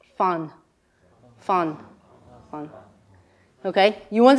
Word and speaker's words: fan: The word for stay, similar to leave, stay, it's fun.